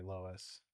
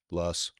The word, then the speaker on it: Loess: Less. Loess. We're split on how you say it. Both are correct, I think. One's more German, one's more English. Either way, and I don't even know which is which.